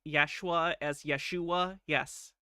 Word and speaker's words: Yeshua: Is he pronouncing Yeshua as Yeshua? Yes. Yaheshua. Yes. The chaos that will ensue, the fear that people will be with Yahusha.